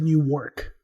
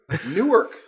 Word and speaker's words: Newark: was an emphasized york no i said new work okay okay okay the reason why is because you me up last time on this one that was you always say it wrong newark i'm excited about this